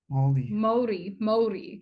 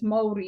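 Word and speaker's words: Māori: Maori. They're quite particular on how you pronounce it as well. So it's Maori.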